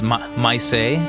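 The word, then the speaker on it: Maisie: brief Dame rosalin and damn how do you pronounce myay m a i s i e myay and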